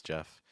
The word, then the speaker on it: Jeff: To guide us in this process, hello guys, my name is Jeff. It rhymes with breath, which I encourage everyone to do.